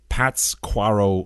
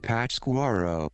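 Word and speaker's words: Pátzcuaro: that stuck out to me in particular is pat's quarrel lake i've got to look this up how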